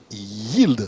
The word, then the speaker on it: Yeeld: En tout cas, merci d'être là pour nous expliquer donc ce qu'est Yield. C'est déjà comme ça qu'on prononce? Absolument.